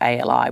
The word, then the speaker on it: Ali: So I go in as a white atheist woman, and I go by Ali, which is spelled A-L-I, which is Ali.